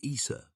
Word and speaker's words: Isis: possibly Scandinavian or gothic in these languages the name is pronounced Issa meaning ice or water